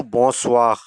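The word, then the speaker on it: bonsoir: इसका उर्दू में प्रोनाउंसिएशन बोजख यानी सुबह बगैर नंबर टू बोसवा यह स्लाइटली फॉर्मल है।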